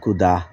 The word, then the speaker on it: খুদা: খুদা, খুদা, খুদা তোমার মেহেরবানি, না কুদা, সিলেটিতে উচ্চারণ কুদা।